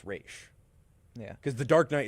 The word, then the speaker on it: Ra's: But the thing is, though, people agree on that it's Raish, yeah, because the Dark Knight is the only one that pronounces it Roz, yeah.